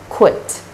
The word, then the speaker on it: quit: After this consonant cluster, there's a short vowel I and ends with T, unvoiced consonant sound T. And this is pronounced as quit, quit.